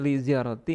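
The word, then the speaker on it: لزيارة: Jadi bacanya li ziarati ini gak pakai tanwin ya.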